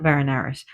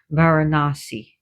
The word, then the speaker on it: Varanasi: Sorry, not Varanaris, Varanasi.